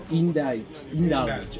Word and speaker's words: Indulge: How do you pronounce the name of your business? Indulge.